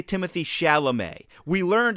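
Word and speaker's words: Chalamet: As a Mets fan, I my inclination might be, "Oh, that's Shalamett."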